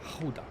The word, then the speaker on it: Hulda: You said it wrong. I don't. It's Hulda, isn't it? Hulda.